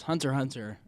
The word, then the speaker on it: Hunter x Hunter: and my favorite is Hunter hunter because it's freaking beautiful excuse you there's an X in between hunter and Hunter it's not pronounced and it's amazing it